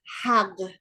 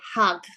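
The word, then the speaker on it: حق: There's this word in Persian, the word, the way you pronounce it is hag, which is a weird word, hag. Like it would be like H-A, I don't know, Q-G-H, like hag, okay?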